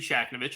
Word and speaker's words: Shakhevich: uh so again shaknovich hard hard name to pronounce if you read it it gets a little easier if you take the H out of the middle uh criminal defense and